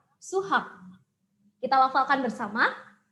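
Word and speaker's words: 수학: Di sini ada dua suku kata. Suku kata yang pertama dibaca su, suku kata yang kedua dibaca hak. Jadi matematika bahasa Koreanya adalah suhak. Kita lafalkan bersama, suhak. Suhak.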